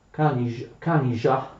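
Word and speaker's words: Kanizsa: le scorse volte, oppure Kanija, perché ZS in ungherese si legge j.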